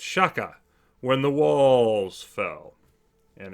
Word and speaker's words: Shaka: here and of course you have to say it properly you know it's shakka when the walls fell